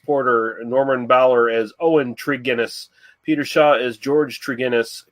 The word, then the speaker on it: Tregennis: to correct you but it's a hard G so it's trigonis Ennis okay maybe that's